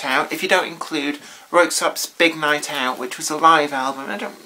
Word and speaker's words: Röyksopp: So in my mind, I always pronounce these as per German pronunciation, but they're actually, I think, Norwegian. But for now, unless I know better, Röyksopp is what we're going to call it.